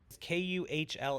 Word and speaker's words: Kuhl: as you possibly can Kuhl it's pronounced like cool like you're a cool guy it's German I believe someone fact